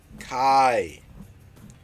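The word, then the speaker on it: חי: But it's not a Y sound, it's an I sound. Strong's H2416. Kai or Kai. Kai is really how you say it.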